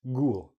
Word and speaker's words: ghoul: not a good word but that's how it's pronounced ghoul ooh now let's go back to this word